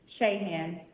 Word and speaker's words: Sheahan: was uh felon what was your last name sheahan could you spell that for me please s-h-e-a-h-a-n great thank you